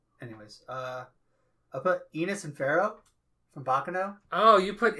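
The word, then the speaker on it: Firo: F-I-R-O, and it's most certainly pronounced Pharaoh.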